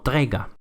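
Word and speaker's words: tager: Y en la conjugación en presente de tomar, la K se suaviza a una G y entonces se pronuncia como trega.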